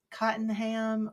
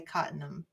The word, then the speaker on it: Cottenham: And a lady said it's Cottenham, or locals say Cottenham. So I guess I could say Cottenham because I'm not local.